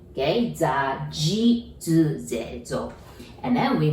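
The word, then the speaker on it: づ: D-U, do, doesn't exist in Japanese. So we pronounce it like Z-U, that's zu. So exactly same as a Z line, zu.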